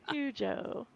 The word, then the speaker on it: Hugo: Hugo. Rhymes with Cujo.